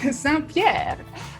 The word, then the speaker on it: Saint-Pierre: Saint-Pierre.